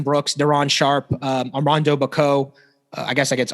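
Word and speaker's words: Bacot: daron sharp um rondo bako i guess i guess armando baycott i believe is how he pronounces it um walker kessler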